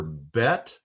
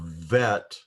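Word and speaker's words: בית: with what they represent the second letter of the alphabet can be pronounced either bet or vet and uh that letter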